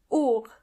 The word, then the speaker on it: Uhr: Uhr means clock, and the H in this case is silent. Uhr.